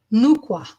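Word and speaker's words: Nu Kua: So this goddess, it's pronounced Nukwa.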